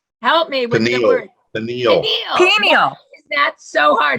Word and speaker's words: pineal: Pineal. Is that so hard? Pineal.